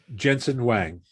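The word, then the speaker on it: Jensen Huang: i'm going to get this name wrong but jensen hwang do you know novidia's founder yes is that how you say it yes jensen wang so jensen wang novidia's founder recently start recently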